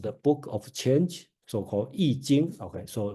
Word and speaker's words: I Ching: book of change soal eing okay so remember this I pronounced as e not I it's e so I think